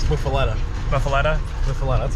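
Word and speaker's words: Muffuletta: It's Muffaletta.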